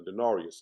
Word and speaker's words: denarius: I'm pretty a denarius. That's what it's pronounced.